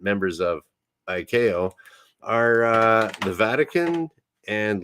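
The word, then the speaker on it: ICAO: a uh by an organization called Iko International civil aviation organization it is spelled like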